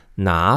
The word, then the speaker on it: 哪: So here, the pronunciation of 哪 remains third tone, right? Because 国 is a second tone, so it doesn't change tones.